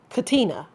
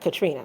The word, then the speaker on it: Katina: But Elijah better make sure he says Katina, not Katrina. He better get it right because mom's is not having it.